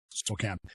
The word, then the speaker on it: Spokane: It's spelled Spokane, but it's Spokane.